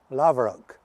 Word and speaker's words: Laverock: Oh aye, Laverock. If you go, I'll spell it to you and then it'll make sense to you.